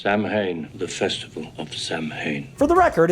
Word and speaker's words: Samhain: that they all mispronounced samhain the festival of samhain for the record it's pronounced samhain i guess we get another returning character from